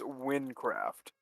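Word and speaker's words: Wynncraft: So that's how I've always heard it pronounced, but it's apparently, like, from the creators, it's meant to be pronounced Wincraft.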